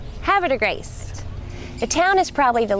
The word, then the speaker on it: Havre de Grace: resolution about how the name was to be pronounced so ready repeat after me havra de grace hav de Grace the town is probably the largest visitor attraction